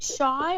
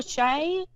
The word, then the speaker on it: Shai: crazy okay so and is it Shai or Shay how do I pronounce it I I I go by shy most people can't pronounce